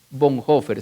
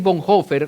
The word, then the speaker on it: Bonhoeffer: los nazis en Europa estudia dietrich bon hofer se escribe dietrich bonhoeffer dietrich bon hofer fue un gran teólogo